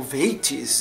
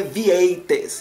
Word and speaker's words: Vieites: Eu espero que seja assim mesmo que se fala, porque é um nomezinho complicado, né? Vieites. Não sei se tem alguma pronúncia tipo Veites, eu não sei, mas é Vieites, entendeu? Do jeito que se escreve.